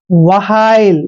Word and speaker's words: while: देखिए W का उच्चारण हम वह करते हैं, वह, और H का उच्चारण है करते हैं, और ILE को आइल पढ़ेंगे ऐसे। वहाइल, वहाइल होता है दोस्तों